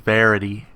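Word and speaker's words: Vérité: an interesting card and i i think i'm pronouncing it right the rendition verite or v right card i eventually learned it's actually pronounced verity um the thing about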